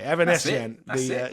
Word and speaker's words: Avanesyan: She will run into I can never pronounce this girl's name. Avanesyan. Is that right? Avanesian. Okay, Avanesian.